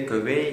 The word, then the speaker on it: көвей: Вот смотрите, вот здесь вот очень правильно произносит Адам Альбертович. Кövей. Кövей. К. И Е относятся к гласным переднего ряда. Значит, согласная будет переднего ряда, которая соответствует русской букве К.